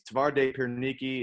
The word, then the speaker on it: Twarde Pierniki: tauren um so that's uh there's two names tavarde piernicki and polsky cookie air touring and took me